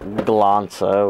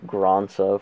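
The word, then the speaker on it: Glansa: The age one Glanza, which I always pronounce Granza for some fucking reason.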